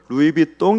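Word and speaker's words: Louis Vuitton: 차 내리나 버버리 나 의 비 통 이나 아이 루이비통은 발음을 의 입이 똥 이라고 발음을 해야 된다 하더라구요 그래서 이런 유명한 옷들이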